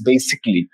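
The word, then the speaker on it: basically: First of অল ইটস নট বেসিক্যালি, ইটস বেসিকলি। This is a very common pronunciation error guys.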